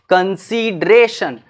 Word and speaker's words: consideration: यहां पर इसको थोड़ा सा डी पे फोर्स दे करके इसको प्रोनाउंसिएट करना स्टार्ट करोगे तो इसका सेक्शन याद रह जाएगा।